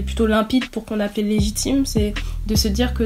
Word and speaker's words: Lejitim: Et petite précision, Légitime, ça s'écrit comment, s'il vous plaît?